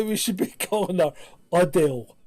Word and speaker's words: Adele: Anyway, let's move on to Adele reveals we've been pronouncing her name wrong. So apparently, this is just... Where's she from? Because... Essex. What? Essex. Essex. So apparently we should be calling her Adele.